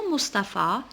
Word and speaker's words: Mustapha: Alors, le prénom Mustapha, il contient la lettre PH. Elle se prononce comment? Elle se prononce F.